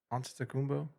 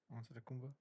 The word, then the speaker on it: Antetokounmpo: Anta Taku Antetokounmpo? Antetokounmpo?